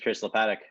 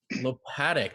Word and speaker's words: Lopatic: My name is Lopatic. Lopatic. That's how you say it.